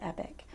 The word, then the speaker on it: Epoch: And Epoch is E-P-O-C-H. E-P-O-C-H. Some people pronounce it Epic.